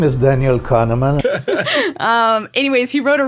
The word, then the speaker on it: Daniel Kahneman: called Thinking Fast and Slow um it's by Daniel Connor man I don't know sorry Daniel I don't actually know how to say his last name sorry my name is Daniel Kahneman um anyways he wrote a really really smart